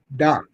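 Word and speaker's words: Dach: I can't pronounce his name. Kirby Doc. Doc.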